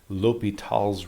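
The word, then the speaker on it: L'Hôpital's: you can use called l'hopital's rule i know it's spelled like hospital but the s is silent sometimes you see this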